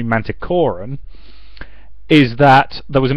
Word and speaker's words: Manticoran: reason she's narrating it, she keeps pronouncing it Manticoran, whereas he intended it to be Manticoran, is that there was